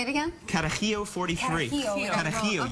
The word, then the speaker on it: Carajillo: Carajillo 43. Carajillo. Carajillo. Okay. You have to say it like that.